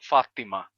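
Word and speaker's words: فاطمة: exemplo o nome árabe o nome árabe Fátima pronunciado assim em árabe com o som de t o t enfático Fátima Fátima quando ele passa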